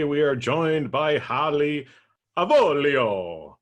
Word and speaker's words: Avolio: And today we are joined by Hallie Avolio. Okay, but we don't have to quite say it like that. Avolio. I just wanted to pull out my little quasi-Italian accent this morning, right?